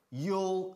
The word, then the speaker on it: you'll: Pero siempre, siempre, siempre contraemos ahí. You'll see. Una sola sílaba, por supuesto.